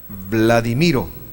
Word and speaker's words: Vladimiro: es perceptible por qué yo me llamo vladimiro así se pronuncia la ddi miro pero